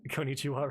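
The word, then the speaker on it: こんにちは: Guy said he knows some phrases in Japanese, end up saying konnichiwa wrong. Well, a lot of people don't know about that second N.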